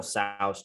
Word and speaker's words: Tso: How do you freaking pronounce that? To sauce? General Tso's chicken.